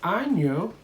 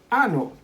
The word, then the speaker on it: año: Por ejemplo, la palabra año. Año. Año means year. But what happens if you confuse it and instead of año, you say ano? Then you are saying anus, okay?